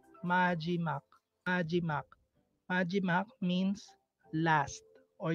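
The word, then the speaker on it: 마지막: So, ang first syllable natin is MA. Second syllable is G. Third syllable is MAK. MAJIMAK.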